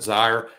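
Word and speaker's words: Zeier: And pronounce it Zier, and that's how Lotzier has his name.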